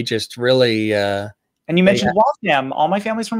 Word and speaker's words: Waltham: And you mentioned Waltham. All my family's from Waltham. Waltham? Really? So that's, and that's how you say it, right? Waltham, not Waltham.